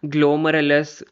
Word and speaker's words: glomerulus: Bowman capsule में ग्लोमरुलस, देखो ये सब बहुत ज़्यादा मेरे को प्रॉब्लम होती है इसके प्रोनाउंसिएशन में।